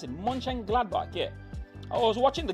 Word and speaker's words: Mönchengladbach: How do you pronounce it? Mönchengladbach, yeah.